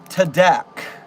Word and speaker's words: TADC: Sherman, it's pronounced Tadak.